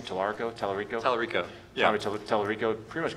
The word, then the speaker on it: Tallarico: There was Tommy, how do you pronounce his last name? Tallarico?